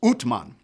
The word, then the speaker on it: Osman: His name was Osman, also sometimes pronounced Utman.